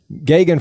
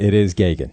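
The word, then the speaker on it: Geoghegan: from Joe Gagan Steve hey Jim Gagan yes Gagan for anyone was a sound is unfamiliar with Irish / Gaelic spelling pronunciation GE ou gh eg a n yeah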